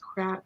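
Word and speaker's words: craic: Oh, it's pronounced crack.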